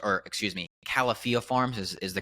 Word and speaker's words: Califia Farms: One of them, Califia Farms, or excuse me, Califia Farms is the correct pronunciation there, Ah, and they recently came out